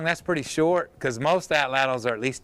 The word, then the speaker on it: atlatl: ATL. Yeah, because a lot of people say atl, but atlatl is how a lot of people pronounce it.